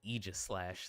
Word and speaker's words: Aegislash: I'll need to make sure I pronounce its name Aegislash, though, like in the anime.